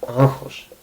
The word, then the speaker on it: άγχος: For example, γχ(gamma-hi), this is γχ(gh-h) if you try to say it. And I say it, γχ(gh-h) usually. But, when you are talking quickly you might actually say it like "νχ"(nh). Like, "e(nh)ance". The word that comes to mind that uses this is άγχος(a-gh-hos).